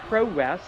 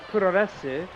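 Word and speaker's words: プロレス: Some people say pro-res. I say Puroresu, because that's how it's actually pronounced. Certain syllables can be suppressed in Japanese, but they're never absent, unless you've got a really bad accent.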